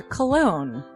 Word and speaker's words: Colon: It is a self-published book by Christopher Cologne. Chris Cologne smells good to me. But Look at her. That broke that fucking cold little exterior. He's like, hee. But it is spelled Colon.